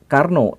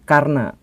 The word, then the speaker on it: Karna: Soe tetapi su dan bukan Karno tetapi Karna dan ini sebenarnya bukan